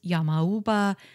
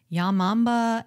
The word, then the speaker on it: yamauba: I should note that the pronunciations yamauba and yamamba and yamamba are all perfectly acceptable as well I'm using yamauba because I think it's the easiest to pronounce I'd also like to